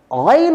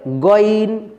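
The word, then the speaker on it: غين: কেমন স্বাভাবিকভাবে গ খ অনেকেই গাইন উচ্চারণের ক্ষেত্রে বলে গইন গইন না এমনটি বলা যাবে না গাইন গাইন খা খা প্রিয়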